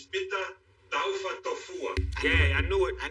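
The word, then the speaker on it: Pita Taufatofua: The proper pronunciation is Pita Taufa Tofua.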